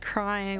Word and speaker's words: Cryon: Oh, Cryon, pronounced crying.